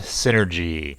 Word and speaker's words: 51N3RGY: They have brought along a small robot called 51N3RGY, pronounced synergy, which was invented by Jericho's deceased father, M.